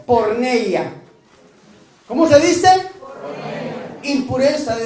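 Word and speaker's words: πορνεία: dentro de la Biblia saben cómo se dice en griego se dice por neia Cómo se dice impureza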